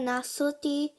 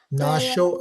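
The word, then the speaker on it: nāśo: Neha Bhikrama Nasoti. Nasho asti. Sorry, Nasosti. So when the S has this line, it is pronounced as SH. So almost Okay. read it as it's NASH.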